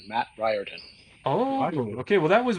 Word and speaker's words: Riordan: The pronunciation of my last name is Riordan, Matt Riordan.